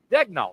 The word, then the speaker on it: Daigneault: Daigneault. They said head coach. It's an easy pronounce.